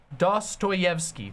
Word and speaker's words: Dostoyevsky: I'm gonna read Crime and Punishment next um dos toyevsky thank you Dostoyevsky I always get his name wrong pathologic 2 is 60 off on Steam